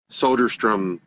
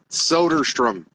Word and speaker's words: Soderstrom: It's like Nordstrom, Soderstrom. Everyone pronounces his last name wrong. I might do it on purpose. Soderstrom. Like Nordstrom, but Soderstrom, kind of, sort of.